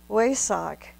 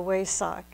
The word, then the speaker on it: Wesak: The highest moment of these three moons, of course, as I tried to mention, is the Wesak. Some people pronounce it Vesak festival, all one and the same.